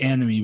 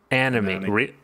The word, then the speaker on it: Annamie: paul yeah uh yeah it's pronounced anime but i i'd rather call her a nomi anime really it's pronounced anime